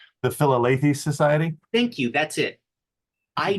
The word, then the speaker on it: Philalethes Society: single mention of something, and I'm going to pronounce it wrong, called the Phileas Society, something like that. You guys would know the correct pronunciation. The Philalethes Society?